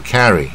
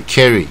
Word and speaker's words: carry: 那 carry 这是大卷舌的啊，是 carry 啊，那不要念成不卷舌的 carry 啊，这音